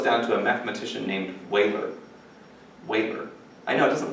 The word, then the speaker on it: Euler: So as a child, I often thought that this must be pronounced Euler, but it's not. It's Euler.